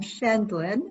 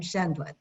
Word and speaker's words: Scheindlin: with correcting two pronunciations i'm schendelin judy judge judy scheindlin i'm schendland secondly concepcion is concepcion it